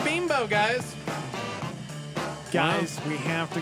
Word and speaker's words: Bimbo: never heard there oh it's pronounced bean bubble by the way says it on the email oh my spelt B I am B oh okay and bimbo was his name okay I just want I am 40 and I just learned that pronounce bean bow guys guys we have